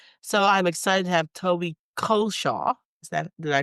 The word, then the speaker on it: Culshaw: So I'm excited to have Toby Culshaw. Did I pronounce that rightly? You pronounced it very well, better than I do, in actual fact. I say it wrongly. So I say Culshaw, which is the wrong way of saying it.